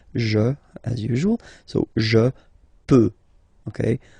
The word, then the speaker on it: peux: So the first form that we'll have is je, as usual, so je peux, okay? Final X not pronounced here, okay?